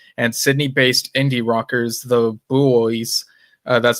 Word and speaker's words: Buoys: Additionally, celebrated music photographer Tony Mott will be in attendance, and Sydney-based indie rockers, the Buoys, that's spelled B-U-O-Y-S, so just in case you're wondering about the pronunciation, are set to perform tracks from Frog Stamp in tribute.